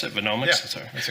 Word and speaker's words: Venomics: So, Steve, in your presentation, you talked about how Venomics is that how you would pronounce it? Venomics?